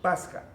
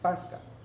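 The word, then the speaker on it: πάσχα: El sustantivo latinizado suena Pasca, porque en latín se escribía P-A-S-C-H-A, pero en griego se pronuncia Pasja, como Christos, con la J.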